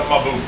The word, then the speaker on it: Mbu: a what it's a mauo puffer how they're pronounced Mao that's what I would say a ma that's what it's actually called that's what it's known in its native territory they call it Mau I've been corrected so